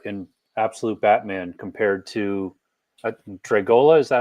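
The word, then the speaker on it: Dragotta: I'm curious to see what you think of the new art in Absolute Batman compared to Dragola. Is that how you say his name? Yeah, Dragoda.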